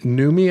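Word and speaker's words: Noomi: uh Naomi uh repace is that numi I believe is how you say it repace when uh when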